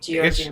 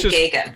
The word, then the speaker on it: Gagan: It looks like it should be Georgian, but it's actually Gagan. It's just Gagan, okay.